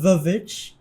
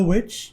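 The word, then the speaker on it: The VVitch: I always read it in my head pronounced as the Vavich and not the witch cuz it does look like double V's instead of just a W.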